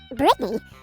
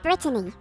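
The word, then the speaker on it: Brittany: adapted it you see my name is actually pronounced Britany but a lot of people call me Britney well because it's sort of similar and my name has two T's in it fascinating Alvin I listen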